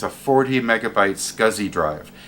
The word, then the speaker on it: SCSI: In this case, it's a 40 megabyte Scuzzy drive. Scuzzy being the way you pronounce the old acronym SCSI, or Small Computer Systems Interface.